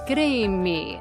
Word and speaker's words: Crimi: I'm your host and we are chatting today with John Paul Green me.